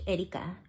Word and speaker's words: Erika: spell that e-r-i-k-a Erica but I say it in Spanish Erica Erica actually my name is Erica so I go